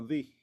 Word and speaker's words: the: sonido eh de vocal, entonces te va a sonar como di.